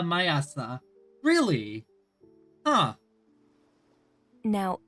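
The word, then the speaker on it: 毎朝: The morning this morning just as every morning is pronounced quesa mayasa.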